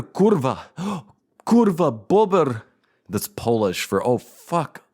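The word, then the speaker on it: bóbr: You can share with me the Polish memes of bober kurwa, kurwa bober. That's Polish for oh fuck, a beaver. Bober is beaver or a beaver. Bober, BOBR, is how it's spelled in English, I guess, and then kurwa, KURWA.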